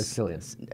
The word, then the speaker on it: Cillian: But the problem is the main actor, Cillian Murphy, I believe is... Cillian.